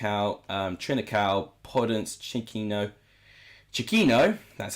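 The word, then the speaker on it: Chiquinho: ruddy whoever mark out um trinical products chikino chiquino that's how you say his name fabio silva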